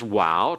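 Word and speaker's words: waw: next one the next one is wow transliterated with a W and uh sometimes it's translated with the V for modern Hebrew uh pronunciation in modern Hebrew hebreasts and so the sound is like in WoW or in modern Hebrew it has the sound of a v like in vat okay notice that it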